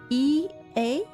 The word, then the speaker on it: Ea: E A I believe was the pronunciation used when referring to our people though it's not entirely applicable given to our present state.